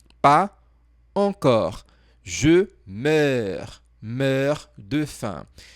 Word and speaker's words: meurs: Je meurs. Meurs de faim. Essa pronúncia aqui, meurs, não tem a possibilidade de eu colocar na transcrição fonética. Então, eu coloquei algo aproximado para você.